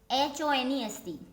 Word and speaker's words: honest: Like the another example also I have written, honest. Pronunciation is honest, not honest, because the starting letter is h, but here h is silent, and the pronunciation of this word is honest.